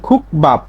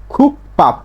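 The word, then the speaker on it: 국밥: খুক বাপ, স্বাভাবিক উচ্চারণ খুক বাপ, কিন্তু না, এর স্বাভাবিক উচ্চারণ হচ্ছে খুক পাপ, খুক পাপ। বাচ্ছিমে ক ধ্বনির একটা বর্ণ পাইছি, তারপরে 5টা বর্ণের একটা পাইছি বিউপ, তাহলে এই বিউপের উচ্চারণটা ব না হয়ে হবে প, ব না হয়ে উচ্চারণটা হবে প।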